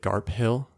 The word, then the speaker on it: Garphill: Interesting, because also I feel like I would have pronounced it Garphill Games. Garphill? Yeah. Because I haven't heard it said, and I'm assuming you're pronouncing it Garfill because you've heard him say it.